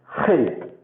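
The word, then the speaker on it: ח: So this is the letter Hate. So the sound will be similar to CH. So you cannot actually say that. It is a guttural letter. You have to pronounce it from your throat.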